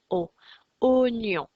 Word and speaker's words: aux oignons: pas facile à lire on voit le wa et au final ça se prononce aux oignons le deuxième mot qui